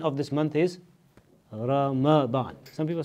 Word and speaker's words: Ramadan: this amazing month called Roma Bahn the correct pronunciation of this month is Ramadan some people say the ROM bond is much